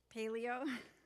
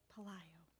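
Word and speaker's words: Pelayo: Rosalind Paleo. I said it wrong. Palayo.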